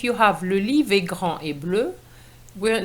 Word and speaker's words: grande: And the pronunciation of grand is affected because we're going to pronounce the D to make the difference between grand, which is masculine singular, and grande, which is feminine singular.